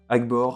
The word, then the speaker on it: Agbor: parler à un certain al gore a d'abord devrait prononcer agbor reste un gnome c'est